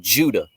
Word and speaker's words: Judah: this with other words so like the name Judah the name Judah in Hebrew is pronounced yahudah yahuda it's the exact same letters of the